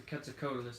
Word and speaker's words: Quetzalcoatlus: Quetzalcoatlus. There's also multiple ways to say that. Quetzalcoatlus. Quetzalcoatl is how you say it. So Quetzalcoatlus is probably the best way to do it.